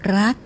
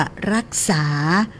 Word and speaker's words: รัก: มา จาก กรรม ว่า รักษา หรือ อ่า ถนอม ไว้ นะ เจ้า เก็บ ไว้ นะ เจ้า เน้อ อ่า แล้ว ก็ ออก เสียง รัก บ่ ได้ มัน ก็ ตึง ฮัก แต่ นะ ลำปาง รัก เมือง